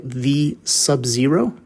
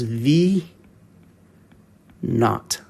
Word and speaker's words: v naught: real real quick here this variable looks like v sub zero which is actually correct you can say it that way but most people will pronounce that as v not okay it's a little bit easier to say